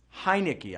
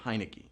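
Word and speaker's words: Heinicke: smith or taylor highnicky hi nicky i know you got to think heineken and just go heineky to say his name right q3 what is the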